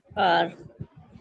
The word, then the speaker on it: car: Teacher, कार, car, okay, how, slightly call your tongue backward, बाकी इसको छोड़ दें। अच्छा जी। car, The R is usually pronounced only before a vowel।